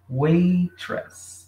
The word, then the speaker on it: waitress: Waitress. Então, garçonete, waitress. Ok? Isso aqui eu acho que fica um pouquinho mais fácil, porque nós fazemos o t forte.